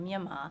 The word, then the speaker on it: Myanmar: but uh you know the country is today called officially called Myimma and that that is uh the phonetically correct name for my uh for the country and it's also conotes